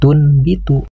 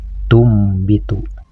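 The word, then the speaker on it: تُنْبِتُ: kecil untuk cara membacanya tidak boleh Dibaca tunbitu tapi harus dibaca tumbitu dan selanjutnya ada huruf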